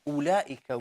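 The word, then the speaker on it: أولئك: The round circle on top of wow means, well done, Halima. It means wow is silent actually. We do not read it. Okay? So if you look at the word one more time, ulaika, we do not read this wow.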